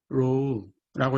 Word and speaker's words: rho: row라고 읽으시면 되고요.